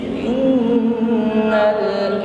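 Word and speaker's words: إِنَّ: Innal insana lafi khus baik in Nun tasdid ada gah ya atau gunah musyaddadah maka ditahan Jangan terburu Ya ditahan dan sempurnakan bunyi dengung pada huruf nun ini Inal kembali berdengung ada nun sukun bertemu huruf Sin ikhfa ya jadi nun sukun kita samarkan pada huruf Sin dengan berdengung dengungnya tipis ya Jangan tipis saja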